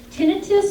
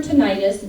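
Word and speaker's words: tinnitus: for talking about tinius tinius or tentis both pronunciations are correct and what tinius is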